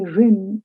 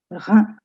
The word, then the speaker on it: Rhin: The IN is pronounced as un, un. So don't say Rin, it's Rhin, le Rhin, le Rhône, le Rhône, and la Seine.